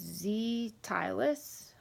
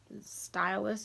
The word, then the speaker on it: Zstylus: And right now we're talking about, and I'm sorry if I don't pronounce it right, but it's Zstylus or Stylus with a Z.